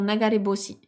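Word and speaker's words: 流れ星: Mais là, comme elle est incluse dans le mot nagare boshi, c'est juste que nagare hoshi, c'est compliqué. Donc, ça se transforme en nagare boshi.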